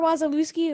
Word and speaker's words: Wasilewski: can't get it and i mean phonetically if you just sound it out it's spelled like it sounded but you know i